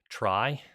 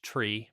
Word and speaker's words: trie: Sometimes I think it has been pronounced tree but there's a general term tree tr that we've worked with already on this platform and the word try comes from the middle of retrieval so it has a